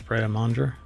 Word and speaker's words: Pret A Manger: It's pret a manger, something like that. Manger, I believe. I don't think you say the R.